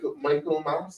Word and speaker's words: Michaelmas: You have a situation with late notifications of the transfer of principals and teachers for the 2024 Michaelmas, that's the correct pronunciation term.